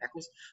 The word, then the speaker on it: Eccles: right there where the Eccles, I think I'm pronouncing that right, is that right? Eccles? Yeah. Yep. Eccles, in Mount Olivet Cemetery.